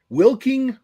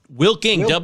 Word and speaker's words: Wilking: So he's oh, it's spelled Wilking. That's new. Wilking, Wilking. Wilking. It's like a verb.